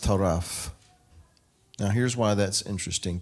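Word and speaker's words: טָרַף: off oh come on the root word is pronounced taraf now here's why that's interesting to me because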